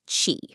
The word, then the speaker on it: qi: So, the first story comes from traditional Chinese medicine, and it's all about this concept called chi, pronouncedqi.